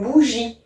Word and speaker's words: bougie: Et parfois, il y a des E muets à la fin des mots, comme dans une bougie. Et bien, effectivement, on ne l'entend pas, mais il est bien présent.